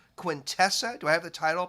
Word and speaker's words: Quintessa: pronounce it your novel right is it called quintessa do i have the title pronounced correctly you know there's not really a wrong way because i invented the name uh but contessa is what i go with uh it's q-i-n-t-e-s-s-a